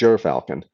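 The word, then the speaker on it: gyrfalcon: hurry uh jur falcon jer falcon 44 and juror falcon 88 the g is ji and the yr is pronounced like the ur in hurry so it's your falcon and it's the largest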